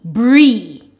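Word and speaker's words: brie: Br, E, bree. Now this is taking the long E. So the first vowel here is I. The I is silent. So this is an exception.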